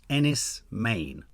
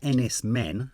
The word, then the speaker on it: Enys Men: do a trailer reaction to a film called Ennis Maine that's how you pronounce it it's written Ennis men as in men uh but it's pronounced Ennis